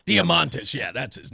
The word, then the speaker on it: Diamantis: It's Costas Diamitis. How do I pronounce this guy's last name? Diamantis.